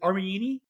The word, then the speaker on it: Armellini: uh uh is it armini armini pretty close yeah I thought the two L's were you know was it was a trick there you know sounded like a y maybe um you know